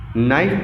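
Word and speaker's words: knife: L silent होता है नाइफ पढ़ते हैं तो के साइलेंट होता है वैसे गुणा केस का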